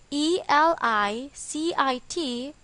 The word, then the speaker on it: elicit: its pronunciation is elicit with the stress on the second syllable the second word ilis